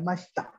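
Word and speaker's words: ました: Nah, i-nya biasanya bukan hampir dihilangkan ya mashita. Jadi dipercepat ngomongnya mashita. Mashita. Tabe mashita. Jadi i-nya tuh kayak gak ada huruf i, langsung mashita.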